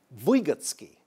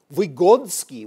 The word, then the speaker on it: Vygotsky: We know him in the West as Lev Semyonovich Vygotsky, but it might have been Lev Semyonovich Vygotsky with the accent on the first syllable, or maybe Lev Semyonovich Vygotsky with a D, or Lev Sinchovich Vygotsky.